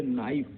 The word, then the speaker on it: knife: इसी तरह से नाइफ, बहुत इंपॉर्टेंट है आपके लिए, नाइफ, चाकू, नाइफ में भी के साइलेंट है। NIFE के आगे के जोड़ देंगे तब आपका चाकू बनेगा, यानी KNIFE, नाइफ।